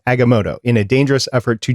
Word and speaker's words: Agamotto: change the past and i butchered al aggamoto agamoto okay there we go eye of agamotto in a dangerous effort